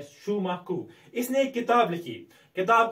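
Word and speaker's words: Schumacher: इसे Shumaku कहा जाता है. He was a German born but British economist. ये British economist है. इसका इसको pronounce किया जाता है Shumaku.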